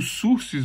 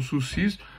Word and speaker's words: sursis: Cada um pronuncia de uma forma aí. Então, o sursis ou sursis, né, na verdade, é a suspensão do processo.